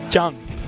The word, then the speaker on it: Jjang: believe it's correctly pronounced Jang yeah it's a the Double J sound very hard to say for an English tongue especially someone with my